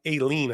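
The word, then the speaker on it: Aileen: the phone and call Judge uh Ailen, I think it's pronounced, Ailen Cannon, and Judge Shutin can say, "Hey, Ailen, I I need to move my trial ahead.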